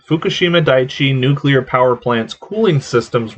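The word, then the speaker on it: Fukushima Daiichi: even worse the fukushima you say it fukushima daichi okay fukushima daichi nuclear power plants cooling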